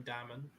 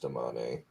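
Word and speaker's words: Damane: whatever and three Domani I tend to call them diamond or domain no I think they pronounce some Damani yeah it's pronounced domane and and going around and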